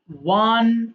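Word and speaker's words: won: উইন, ওয়ান, ওয়ান। আচ্ছা এটা কিন্তু ওই যে 1 2 3 4 বলি না, সেম উচ্চারণ হবে। এটা আমরা অনেকে ভুল করে ওন বলে ফেলি।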